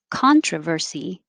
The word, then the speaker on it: controversy: uh and then up controversy the c-o-n sounds like ah controversy controversy and 13.